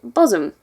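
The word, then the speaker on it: Bosham: But the most interesting place is a little village on the south coast of West Sussex, which is called Boshum. It's spelled Boshum, but Boshum is greater and kind of funny.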